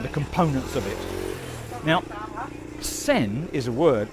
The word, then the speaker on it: sen: We've uh actually got sen lek, we've got the glass noodle, and we've got uh the you know, the tagliatelle type noodle, the flat noodle.